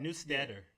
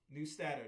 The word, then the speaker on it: Neustadter: Newsteader. Neustadter.